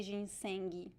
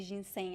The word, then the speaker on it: ginseng: is an interesting one there is the g at the end but we don't say jin sengi as far as i know we usually say jin saying i think we got